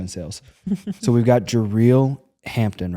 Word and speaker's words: Jareel: So we've got Jareel Hampton, right? Jareel. I'm going to respond either way, but Jareel is how you pronounce it.